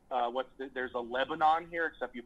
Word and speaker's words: Lebanon: this is one where like what there's a Lebanon here except you pronounce it Lebanon okay it's about 20 minutes away from here